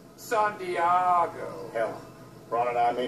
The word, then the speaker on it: San Diego: You messed with somebody from San Diego. It's actually pronounced San Diego.